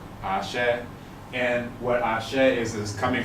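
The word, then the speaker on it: àṣẹ: And that's a very US pronunciation of it because the Yoruba pronunciation is Ashe, Ashe.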